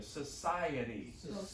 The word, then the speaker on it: society: Society. It's crazy. It's 4 syllables, but it's a very small word.